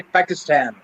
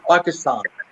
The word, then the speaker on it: Pakistan: So the Americans say Pakistan, which is wrong. It is Pakistan.